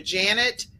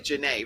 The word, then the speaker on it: Janet: are the audio listeners, Dr. Janet Bishop, but it's really Janae, right? That's how. Yes. It just I'm doesn't. only saying Dr. Janet because of the fact that that's how it's spelled. But her name is Dr. Janae, just so everyone knows.